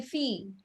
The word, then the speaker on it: fille: Okay, nous sommes des filles. Okay. Yeah. No is the subject, som is the verb, they the article, feel is the noun. Fille is a noun, not fil. You don't pronounce the L.